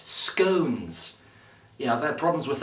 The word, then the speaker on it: Scones: with me tonight I have special guest Bernard scon Rodney yeah it's actually pronounced scones yeah I've had problems with that all my